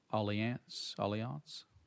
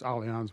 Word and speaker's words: Allianz: I will ask, and forgive me, I think I pronounced the name of your company incorrectly, Allianz? It's Allianz, Mr.